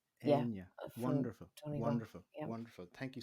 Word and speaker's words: Áine: you know, Roisin, Rashin would be pronounced differently. It's Áine. Áine.